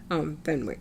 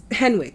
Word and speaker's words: Henwick: were on Sense8, with the exception of Jessica Fenwick. That's how you say her name, right? Jessica Fenwick. Is that her name? Mm-hmm. Best thing about Iron Fist. Yeah. Henwick, thank you.